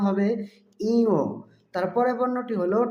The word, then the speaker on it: ঞ: তারপর বর্ণ টি হল ইও এ বর্ণটিকে অনেকে নিও বলে থাকে আরো বিভিন্ন ভুল উচ্চারণ করে থাকে সঠিক উচ্চারণ হবে ইও তারপরের বর্ণটি হল ট হল অল্পপ্রাণ বর্ণ বাতাসের